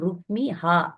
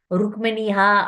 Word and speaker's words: ருக்மிஹா: Hannah கொன்றவர்னு அர்த்தம் நிறைய எனக்கு தெரிஞ்ச சில பக்தர்கள் எல்லாம் இந்த பெயரை தவறாக உச்சரிப்பாங்க ருக்மிணி ஹா அப்படின்னுவாங்க ருக்மினியான்னா ருக்மிணியை கொன்றவர்னு அர்த்தம் ஆயிடும் ருக்மி என்பது ருக்மிணியின் சகோதரன் ருக்மி அவனைக் கொன்றவர் பலராமர் அதனால பெயர் வந்து ருக்மிஹா அப்படின்னு பெயர் இருக்கு பலராமருக்கு ருக்மினி ருக்மியை